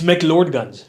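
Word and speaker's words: McLeod Ganj: It's McLeodganj. Yes. See, McLeodganj. I pronounce it in an You were English close.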